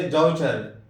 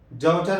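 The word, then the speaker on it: daughter: جیسے ڈاؤٹر، ڈاؤٹر میں جی H silent ہے.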